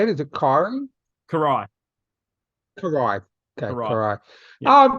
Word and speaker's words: Karai: Shredder's grandson and Kyrie's son. Yeah, Is that how you say it? Is it Kyrie? Karai.